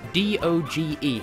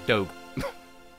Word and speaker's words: Doge: discussion for the comments do GE how do you pronounce it if you say Doge you're wrong is dope also in the